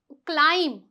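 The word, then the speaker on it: climb: क्लाइम क्लाइम तो इसे बहुत से लोग क्या बोलते हैं क्लाइम बोलते हैं क्योंकि यहां पे वो क्या पढ़ते हैं बी पढ़ते हैं पर यहां पे जो बी है वो साइलेंट रहेगा क्यों क्योंकि आपके पास यहां पे क्या है एक रूल है जो कहता है कि अगर बी से पहले क्या आ रहा है एम आ रहा है तो बी आपका साइलेंट हो जाएगा तो इसीलिए मैंने ने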